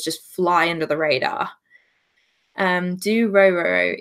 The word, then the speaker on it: Dororo: Do Roro, it's continuing, not new for that season. Do Roro.